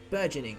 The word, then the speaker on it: burgeoning: How do you pronounce this word? Hang on. Burgeoning.